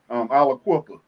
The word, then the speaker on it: Aliquippa: Now, the city, is it pronounced Aliquippa? Aliquippa.